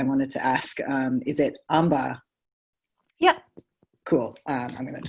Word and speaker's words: Ambha: Oh, actually, Tasha, I wanted to ask, is it Amba?